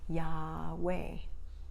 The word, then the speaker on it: Yahweh: our natural breathing pattern yahweh is like breathing and if we don't pronounce any of the consonants that is how we breathe so do it with